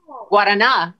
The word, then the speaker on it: Guaraná: Guaraná is how you say it in Brazil. Is how you say it correctly.